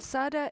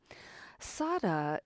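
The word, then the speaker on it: saddha: which is to explore the word Sada and Sada is spelled s a d d h a it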